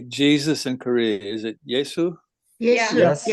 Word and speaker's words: 예수: 감사드리며 이 모든 말씀 예수 그리스도 이름으로 기도드렸습니다. 아멘. 네. How do you say Jesus in Korea? Is it Yesu? 예수. Yes. 야. Yesu.